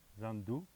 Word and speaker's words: Zandu: On le prononce à l'africaine, donc ça finit par ou, Zandu.